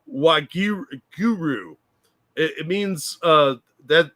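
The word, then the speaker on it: Waheguru: I I just looked it up and she's mispronouncing it it's wag Guru it it means uh that that's how they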